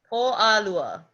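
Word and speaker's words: Pōʻalua: do you say Tuesday in Hawaiian auntie Stephie Oh Lala okay good okay there you go what she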